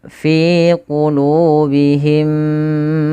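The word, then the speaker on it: فِي قُلُوبِهِمْ: Cara membacanya adalah kita tahan dulu suara mim yang pertama, masukkan kedua dan ditahan. Maka fi qulubihim baru lepas.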